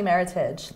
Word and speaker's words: Meritage: it's not is it it's actually Meritage like Heritage yeah it's right it's to rhyme with Meritage and do you mind